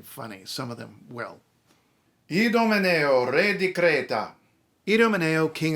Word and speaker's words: Idomeneo: Idomeneo, re di Creta. Idomeneo, king of Crete. Idomeneo, re di Creta. Trust me, you don't want to say the English pronunciation of this king's name.